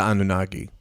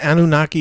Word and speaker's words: Anunnaki: the grays originally mined gold for the anunnaki okay okay they they had a revolt and